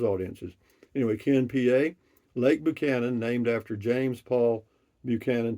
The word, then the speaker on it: Buchanan: anyway Ken PA Lake Buchanan named after James Paul Buchanan Texas State representative I believe it is pronounced with you sound versus Buck Cannon uh I don't know